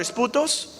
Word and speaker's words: esputos: Así se pronuncia esa palabra, esputos.